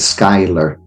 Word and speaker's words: Schuyler: Yes, they pronounce it Schuyler.